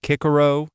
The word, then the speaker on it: Cicero: The same way the great famous Roman orator Cicero would be pronounced Kikaro in this same sort of pronunciation.